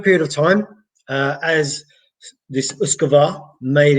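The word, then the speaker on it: uisge beatha: Now it doesn't look like that at all, but that is what it is. So and anyone that knows Gaelic or has come across Gaelic names, you'll know that what is written is not always what is pronounced.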